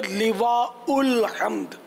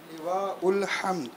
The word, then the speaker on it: لواء الحمد: تو صحیح تلفظ ہے لواء الحمد. لواء الحمد. لام کے نیچے زیر ہے.